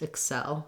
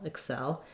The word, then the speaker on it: excel: if the the um letter x in excel says the x sound so the k k sound and this s sound and um the the break in syllables is potentially right in the middle of those two sounds so one letter but it cuts across both syllables excel excel importantly i just want to be short and unstressed on that first vowel first syllable and hold the second syllable longer excel then when we're